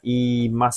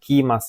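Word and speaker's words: 言います: Ini bacanya ada kanjinya, ini bacanya imas, pasangannya mas, bukan kimas ya.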